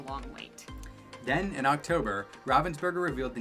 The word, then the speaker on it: Ravensburger: It's not Ravensburger, it's Ravensburger. Ravensburger? Ravensburger's close enough.